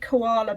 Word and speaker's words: koala: this because we're going koala and we're thinking of the sound there we're going to over pronounce it and use r but actually it's going to be the schwa isn't it if we said koala